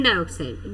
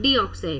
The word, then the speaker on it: dioxide: And second word carbon डाइऑक्साइड, डीऑक्साइड नहीं, carbon डाइऑक्साइड.